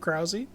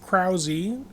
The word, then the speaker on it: Krause: My name is Krause. My family pronounces it Krause instead of Kraus.